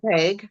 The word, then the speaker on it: Haig: So it's The Midnight Library by Matt Haig is the way I think that you say it. Is that correct? Does anybody know if I'm saying that wrong? You know me, I pronounce Hey, everything I wrong. think it's Haig.